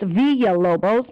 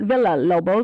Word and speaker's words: Villalobos: And it's Villalobos, not Villalobos, because I know that sometimes the double L's in a Spanish name, when we want to read it in English, we say it like an Italian name.